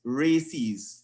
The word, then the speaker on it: RACES: would have been responded the other one is called races radio amateur civil emergency service pronounced races so the first one